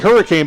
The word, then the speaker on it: Hurricane: It's spelled like hurricane, but I worked at WSAZ television in that market 2 different times. I know Hurricane.